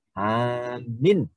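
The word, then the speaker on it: آمِن: A-nya pendek, min-nya panjang. Amin. Berbeda dengan kalau A-nya panjang, min-nya pendek. Amin. Artinya berimanlah atau berilah jaminan keamanan. Nah, ini berbeda. A-nya panjang, min-nya panjang. Sehingga menjadi lebih panjang lagi.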